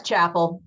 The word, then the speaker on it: Chappell: Am I saying it wrong? I know you're here. It's Chapel. That's okay. Everybody makes the, pronounces it their own way. When she said Chappelle, I thought, oh no, I've been doing it wrong.